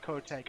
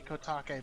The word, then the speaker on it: Kotake: I have my shitty English pronunciation of Kotek. I hate that. Like, I hate that name because I'm sure it's supposed to be Kotake, but I can't say anything else.